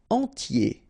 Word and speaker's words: entier: Entier. So remember, I-E-R, yé, okay, and then the T, tier, and the nasal before, en, entier.